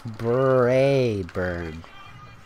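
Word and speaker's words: Braeburn: Brayburn. It's like bay and burn, but it's Brayburn.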